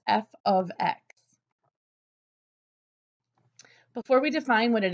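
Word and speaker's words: f(x): written oftentimes as F parentheses X which is pronounced f of X before we define what it is to be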